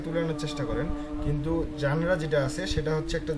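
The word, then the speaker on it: genre: আচ্ছা, এটার উচ্চারণটাকে খেয়াল করেন, এটা জেনারও হবে না, জেনিয়রও হবে না, এটার উচ্চারণ হচ্ছে জানরা, ওকে, জানরা।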